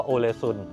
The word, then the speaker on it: Ålesund: ภาษา นอร์เวย์ นะ คือ ตอน แรก ครับ ผม ก็ ไม่ รู้ ว่า ออก เสียง ว่า โอซุน ก่อน มา เรา ก็ จะ เรียก ว่า อุน แต่ จริง ๆ คือ ภาษา นอร์เวย์ เรียก ว่า โอซุ นะ ครับ เนี่ย ครับ เชิต